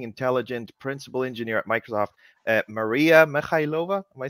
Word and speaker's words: Mariia Mykhailova: Today, I am joined by a person that I really, really admire, an amazing, intelligent principal engineer at Microsoft, Mariia Mykhailova.